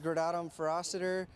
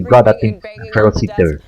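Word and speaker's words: Gradatim Ferociter: You know, at Blue Origin we say gradatum ferociter. This was a ferocious step. Yeah. Oh, I'll chat a little bit. It's the real pronunciation would be gradatum ferociter, if I remember.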